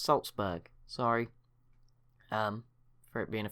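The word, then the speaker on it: Salzburg: as I've been informed this city is pronounced Saltzburg sorry for it being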